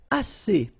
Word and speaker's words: assez: And then assez. Assez means enough, okay? Assez. Remember, two vowels here, a and then e, and then double s, so it's really strong, the s.